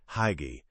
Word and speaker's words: hygge: The answer, it turns out, lies in a simple, profound, and completely untranslatable word, Hygge. It's pronounced hygge, and while you might stumble over saying it at first, you'll definitely know how to feel it.